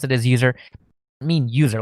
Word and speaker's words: usr: but inside of USR, which I think most people pronounce it as user. I know I pronounce it as user.